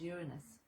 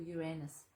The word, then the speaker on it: Uranus: it activates its ruler which is uranus or uranus it's called two different things depending on how you pronounce it and uranus is